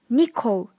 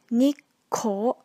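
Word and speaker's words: 日光: in Japan for sightseeing some students pronunciate this word Nikko but you need to make sure to include the small two as well the correct pronunciation will be Nick Cole okay so let's move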